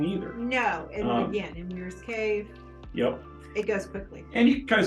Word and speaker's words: Weyers Cave: And so I'm thinking we pronounce that Weyers cake. Well, if you eat Breyer's ice cream and didn't know any different, you'd be right. But What do you think?